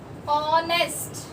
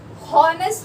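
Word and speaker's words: honest: ऑनेस्ट, हॉनेस्ट नहीं बोलते, है ना, हॉनेस्ट नहीं होता है, ऑनेस्ट होता है, तो एच साइलेंट होता है, ठीक है।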